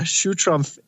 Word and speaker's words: Schutrumpf: really hard to spell it's sure Trump SCH Trump like the president and the last letter can find my